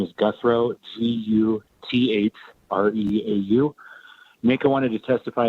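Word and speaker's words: Guthreau: My name is Guthrow. I serve as the Deputy Director of the Nevada Association of Counties, or NACO. My name is spelled V like Victor. Last name is Guthrow, G-U-T-H-R-E-A-U.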